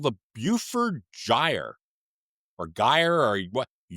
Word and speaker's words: Beaufort: It's called the Buford Gyre or Gyre or what? Yeah. I don't know how you pronounce. Yeah, What? this Tell is us what that is. yes, it's the Beaufort, just above Alaska, and parts of Canada, Western